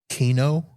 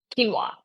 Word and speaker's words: quinoa: Uh, bread, pasta, brown rice, kino quinoa. Quinoa. Yeah. See, just the I can't pronounce it, so I'm not going to eat it.